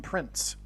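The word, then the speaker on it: Prinze: It could even in fact be pronounced as Prince. I don't know. But it definitely rhymes with Prince nonetheless.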